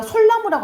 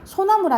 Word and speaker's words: 소나무: 그러니까 말 그대로 단어랑 단어 이렇게 합쳐졌을 때 우리가 솔나무라고 안 하잖아. 소나무를 하잖아요. 자연스럽게 이제 리을이 빠졌다라고 생각하시면 되겠죠.